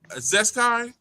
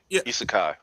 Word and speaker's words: isekai: Uh, how do you pronounce it? Is it Zesai? The one with isekai is manga.